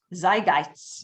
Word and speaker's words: zeitgeist: of hung around in the how do you pronounce it zygits zeitgeist zeitgeist right zeitgeist says doc okay is the definition